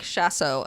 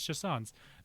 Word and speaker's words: chausson: Like Paul says it like chasso because I wrote it out.